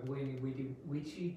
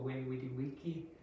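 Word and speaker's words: veni vidi vici: So there is debate about how Latin is pronounced. So this possibly would have been pronounced as Wini Widi Wici or Wini Widi Wiki. Some people say that it's a V, but probably it was a W sound.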